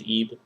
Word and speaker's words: Ib: that day um there's a game called eeve it's spelled IB um it's supposed to